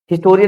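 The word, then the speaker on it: historian: silent है जो है हिस्टोरियन मेंच साइलेंट नहीं है हैप्पी मूवमेंट में हैप्पी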